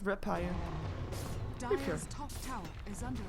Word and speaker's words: Rapier: Did I say it wrong? Rapier. Rapier, not Rapier.